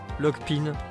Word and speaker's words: Lockpin: Lockpin. C'est vrai que ça devrait se dire Lockpin.